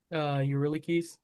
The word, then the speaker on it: Eurylochus: Eurylochus.